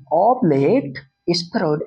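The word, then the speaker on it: oblate spheroid: नाम है ऑब्लेट स्फेरॉइड ऑब्लेट स्फेरइड ऐसे स्टाइल में बोलिए ऑब्लेट स्फेरॉइड ठीक है हिंदी में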